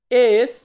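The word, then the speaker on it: esse: এস, এস, এস কে আমরা বলবো এসে, কি বলবো এসে, এসে মানে হচ্ছে এস।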